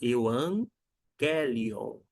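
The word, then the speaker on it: εὐαγγέλιον: ó g e g quando você tem esses dois Gamas esse primeiro aqui o primeiro G G ele vai ter um som de n até então você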